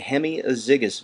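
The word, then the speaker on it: hemiazygous: blood back to the heart b is the hemiazigous vein hemiazigous vein that's spelled h-e-m-i-a-z-y-g-o-u-s hemiazigous vein c is the posterior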